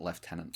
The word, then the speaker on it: lieutenant: deepest darkest secret maybe I don't get why Britain calls it left tenant I don't know where